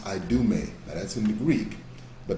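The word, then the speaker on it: Idumea: i d u m e a it is pronounced i do me that's in the greek but that's the same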